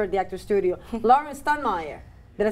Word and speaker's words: Steinmeyer: Lauren Stunmeyer. Did I say it right? Steinmeier, yes.